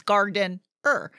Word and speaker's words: Gardener: to be clear j-o-e-g-a-r-d-e-n-e-r because a lot of people leave that extra e out yeah they do it is it's Garden ER Gardener Gardener yes yes right